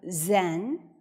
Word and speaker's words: Zen: of the Chinese character means Oneness and it's pronounced as uh Zen or in Chinese Chen in Korean is pronounced